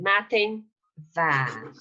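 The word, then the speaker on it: madainn mhath: Good morning, matin va. Okay, again, we see that H. here, matin va, matin va. So you don't pronounce TH, but you pronounce this as V, matin va.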